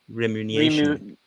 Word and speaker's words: remuneration: full details of players how do you pronounce this remuneration remuneration so it's all about